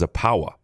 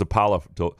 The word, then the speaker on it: Zapala: for them and apparently it's zapa is how it's pronounced yeah I I thought it was zapala I I don't know